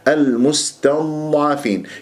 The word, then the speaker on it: المستضعفين: المستضعفين يعني أولا لا تسحب ضمة الميم إلى السين، تنطق السين ولا زالت الشفاه مضمومة، فلا بد أن تخلصها. والسين يجري فيها صوت والنفس وحرف الصفير، المستتا وليس المستا، لأن جورة الضاد المفخم